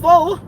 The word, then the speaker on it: pho: Okay, so for anybody who's coming in, it's pho. That's right. Pho, that's how you pronounce it.